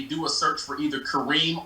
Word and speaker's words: Karim: little initial r and i gotta spell it because folks of butcher my name i've been called karim karim karm so it's kareem r or they can type